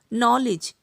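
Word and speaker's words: knowledge: के तब साइलेंट रहता है जब कभी भी एन से पहले आता है, जैसे कि no, knock, नॉलेज, knife, NEET, नी, इन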